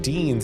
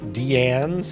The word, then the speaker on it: Deanne: And it's not Dean's, it's pronounced Deanne's with Deanne's dips.